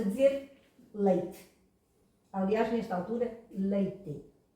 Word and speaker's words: leite: Aliás, nesta altura, leite. Este E final pronunciou-se primeiro E, leite, depois pronunciou-se I, leite, e depois pronunciou-se I, leite, e agora está em desaparecimento.